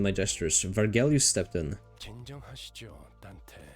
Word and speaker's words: Dante: gestures vargel stepped in Dante call yourself Dante does she always say Dante like you can just pronounce my name normally you don't need to drag the E it's not right to